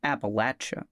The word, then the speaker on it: Appalachia: The world of the old gods of Appalachia is full of horror and monsters and strangeness because the Appalachia mountains correctly pronounced Appalachia are full of monsters, full